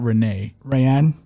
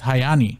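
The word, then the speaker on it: Raiane: say her her name it's not Renee Ryan no it's like oh man it's just say Amanda how do you say how do you say the r in Brazil it's like hi oh it's hayani hayani yeah hayani Amanda uh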